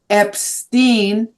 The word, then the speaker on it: Epstein: And I said Epstein and he immediately corrected me. It is Epstein. So I always say it correctly from here on.